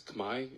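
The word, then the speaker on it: Khmer: understand exactly what the kimer civilization was is kimer pronounced today as Kamai in the Cambodian language you can ask a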